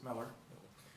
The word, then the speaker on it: Mueller: It looks like Mueller, but I pronounce it Miller.